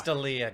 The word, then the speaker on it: D'Elia: if there's someone being focused on right now, it's Chris D'Elia. Is But that how you like, say his name? Shots fired. I have no. It's D'Elia, guys. It's D'Elia.